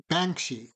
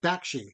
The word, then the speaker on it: Bakshi: animated movie The 1978 by Ralph bans bans bansi I'm B bakshi you were the one that corrected me earlier I know just it just your your pronunciation just got stuck in my head Ralph buuny yeah um we're gonna discuss this um one